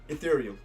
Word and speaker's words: Ethereum: Ethereum.